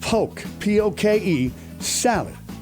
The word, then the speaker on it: poke sallet: Polk salad, or in the deep South, pronounced poke sallet, is made from the